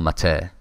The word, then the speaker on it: MATE: xenial mate and uh i know it says you think it says but i've listened to too many people pronounce it who have authority on this subject and it's called mater right got that um oh